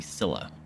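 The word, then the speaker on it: Scylla: i really don't wanna i think it's actually silla that's how it's pronounced oops i push the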